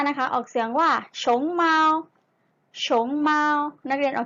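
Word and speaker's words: 熊猫: พอ มี ผ้า นะ คะ ออก เสียง ว่า ชง เมา โฉม เมา นัก เรียน ออก เสียง ตาม หนังสือ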